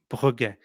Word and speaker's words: Brugge: Frederick, how do you pronounce the team we're playing? So Club Brugge. Brugge.